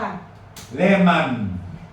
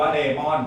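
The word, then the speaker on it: lemon: เกิด ถ้า เกิด อ่า อ่าน ได้ 2 แบบ เลม หรือ เลมอน ก็ ได้ นะ ครับ แต่ แต่ ว่า บาง ที อ่าน บาง ที อ่าน ว่า เลมอน ฝรั่ง จะ งง นิด นึง อ๋อ เลม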